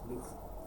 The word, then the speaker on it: Lukh: But it's pronounced like Luke.